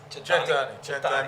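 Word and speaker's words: cent'anni: man cheers guys cheers we say chani by the way chent chent means to 100 years of good health I was going to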